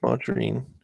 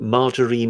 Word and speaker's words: margarine: is the fact that margarine is a mispronunciation, but it's a mispronunciation. Margarine. Well, no, it's margarine. It's margarine. Well, it's a G followed by an A. So why would it be J?